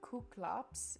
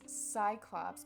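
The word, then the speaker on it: Κύκλωψ: ever watched three hundred for number nine it's gonna be kuklops you would think it's cyclops because that's what we really know it as but um it's pronounced as ku klux in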